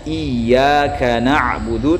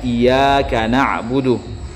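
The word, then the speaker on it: إِيَّاكَ نَعْبُدُ: Contoh, membaca iyyaka na'budu tanpa mentasydid huruf ya-nya. Mohon jawabannya. Jadi yang ditanyakan ini, ada imam dia membaca seharusnya iyyaka na'budu tapi dia bacanya iyyaka na'budu tanpa mentasydid huruf ya-nya, yang mana bacaannya ini dapat merubah makna surah Al-Fatihah.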